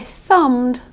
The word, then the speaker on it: thumb: Okay, if you did that: "I THUMMED a ride". There's no B sound in there at all, not at all, you don't pronounce the B at all.